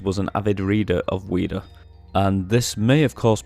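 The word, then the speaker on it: Ouida: it inside of it it's spelled o-u-i-d-a um weeda was the name of an english novelist and peters was an avid reader of weeda and this may have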